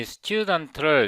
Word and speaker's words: student: 여기서 새 파일을 하나 만들고 이 student를 이렇게 끌어다가 여기다 넣었어요.